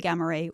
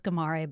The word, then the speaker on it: Ghamari: So Goldie Ghamari, welcome to the podcast. Thank you for having me. And you corrected me on the pronunciation of your last name. I thought it was Ghamari, but it's Ghamari, so my apologies for that.